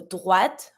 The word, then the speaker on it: droite: Keep in mind all the time, E at the end of a word that has no accent on it, you don't pronounce it. So droite, right.